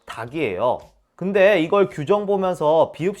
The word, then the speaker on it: 닭: 기억도 어렵지 않죠 닭은 닭이요 리를 굳이 발음하고 달그 이렇게 발음하는 사람도 있는데 틀린 겁니다 그냥 닭이요 닭치고 할